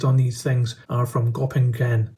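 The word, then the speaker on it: Göppingen: these things are from gopping gen I think that's how you pronounce it in Germany which is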